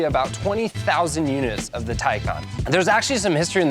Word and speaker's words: Taycan: of people have looked up how to say tyon and that's how it's pronounced tyon not takan not takan now since the tyon dropped in 2020 there